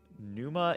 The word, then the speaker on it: Pneuma: Pneuma is the correct pronunciation.